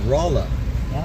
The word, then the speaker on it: Rolla: r-o-l-l-o it's actually pronounced rolla and they named it after raleigh north carolina but in raleigh north carolina everyone says rolla so they they spelled